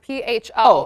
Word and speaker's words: pho: And it's spelled like pho. So if you go to a restaurant, it's P-H-O. Yep. It's pho, though.